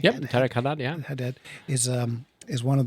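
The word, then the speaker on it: Tareq Hadhad: Yep, Tarek Haddad.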